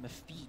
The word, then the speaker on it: MEFYJ: Yeah, I think it's pronounced Mefij.